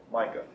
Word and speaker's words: Micah: Micah. How do you spell that?